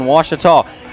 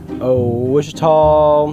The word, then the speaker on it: Ouachita: Back in Texas, everybody pronounces it Wichita, but really, it's Washita. Washita. Washita. How would you pronounce it? Washita. Washita. It's Washita Baptist University. Get it right. It's Washita, people.